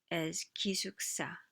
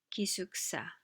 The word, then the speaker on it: 기숙사: 기숙사 means dormitory, but because of the clash between this final consonant and the next consonant, this next consonant becomes stronger, sa. So you pronounce it as 기숙사, 기숙사, 기숙사, dormitory, 기숙사.